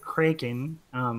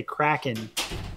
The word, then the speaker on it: Kraken: Tim in the chats said Puff the Magic Kraken, which I think is really cool, but I should say Kraken, because once again I mispronounced that, but that's cool, Tim.